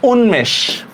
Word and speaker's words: উন্মেষ: হর্ষৌ ন হসন্ত, ম একার তালব্যস্য হসন্ত, উন্মেষ। ঠিক আছে, এরপর দেখেন ল দিয়ে আমি লিখলাম গুল্ম, গুল্ম, ঠিক না?